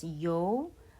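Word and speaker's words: ㅛ: This is pronounced as yo by combining the semivowel sound of e with the vowel of o. E plus o makes yo.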